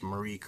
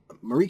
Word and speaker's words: Myreque: the mar Quest series Marik or Marik seems to be the the most common way to pronounce it from every video I've